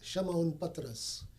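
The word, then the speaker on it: شمعون پطرس: And in Urdu language, the Simon Peter is a different pronunciation, like Shamaun Patras.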